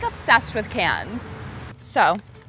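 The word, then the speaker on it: Cannes: just like obsessed with cans so turns out the s is silent so my sponsor won't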